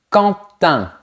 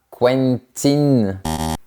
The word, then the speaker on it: Quentin: On commence par Quentin. On ne dit pas Quentin, on dit Quentin.